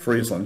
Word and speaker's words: Friesland: Friesland? Friesland.